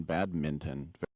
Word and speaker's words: badminton: By the way, kudos on pronouncing the N in badminton. Very good. It's really hard, right? It's just like a conscious choice to get that N.